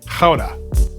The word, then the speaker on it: Gouda: leaving newagen and off to GA or as the locals say Howa we'll be heading out